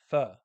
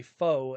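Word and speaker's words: phở: Homemade Vietnamese pho, aka pho, as some people pronounce it, but it's pho in Viet. Pho. You have to say it like a question mark.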